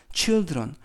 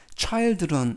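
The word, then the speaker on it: children: 붙여서 복수형 이 되었구요 i 발음이 어 변해서 이 발음으로 변합니다 차일드 에서 칠드런 철들어 니라고 일지 않습니다 차일드 그 다음에 복수형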